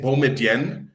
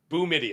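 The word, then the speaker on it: Boumedienne: I think we have to also confirm with Sasha how to pronounce his last name because I've been saying Biden.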